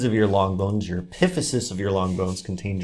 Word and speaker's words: epiphysis: of the top part of your bone there epiphysis epiphysis epiphysis epiphysis is how you say it